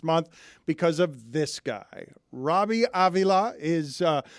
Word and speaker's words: Robbie Avila: because of this guy Robbie Avila is uh I pronounced that with a Latin flourish are you Hispanic do